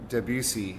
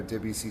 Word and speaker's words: Debussy: I mean, I'm not sure I'm pronouncing it exactly correctly either, but Claude Debussy, and it's spelled Debussy.